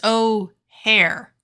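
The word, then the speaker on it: Ojer: It's not Ogier. It's O'Hare. Yep. It's like the airport.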